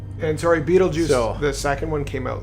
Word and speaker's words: Beetlejuice: vulgar bioexorcist from the netherworld named Beetle Goose, pronounced Beetlejuice, played by Michael Keaton.